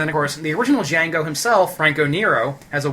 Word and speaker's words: Django: boy my name's D Jango spell it for me d g a n g o the D is silent and francoo the original